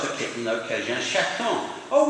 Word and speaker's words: chaton: And one of them says, I've just got a kitten, okay, j'ai un chaton. Oh, we pronounce the T now, don't we? Because it's not the end anymore.